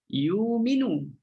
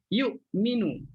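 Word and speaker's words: يؤمنون: Ayu nyumet lafaz ini dia boleh idealkan hamzahnya kepada huruf Waw Hamzah yang mati Itu boleh juga akan menjadi Wow bila kita tuh kan jadi wow maka bacanya you minum bacanya tahu sebutannya ialah you minum Hamzah ditukar menjadi Wow you minum Tetapi kalau kita baca hal kita kena matikan betul Hamzah yu'minu yu'minu 4A jadi bacaan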